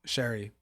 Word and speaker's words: Shari: Tim and Shari uh Sherry it's her name's pronounced different than it's than it's spelled then it's spelled but Sherry so Tim and Sherry